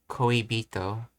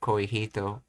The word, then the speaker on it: 恋人: Same reason why this is pronounced as koibito instead of koihito. Dakuten being added to it when you combine words together.